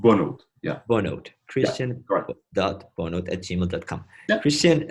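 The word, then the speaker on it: Bonhote: Yeah, it's pronounced Bonot.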